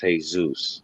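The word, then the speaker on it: Jesús: the word jesus but if you say it in spanish it's hey zeus now if you take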